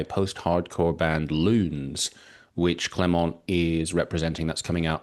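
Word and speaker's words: Clément: Uh it's pronounced Clemo.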